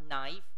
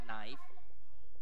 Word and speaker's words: knife: ค ำ ว่ า knife น ะ ค รั บ knife น ะ ค รั บ K is silent no sound whatsoever so you pronounce the N word knee อั ศ วิ